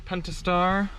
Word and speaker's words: Pentastar: there is a P, there is a T in there. It's spelled Pentastar. Depends, it's up to you how much you want to pronounce the T.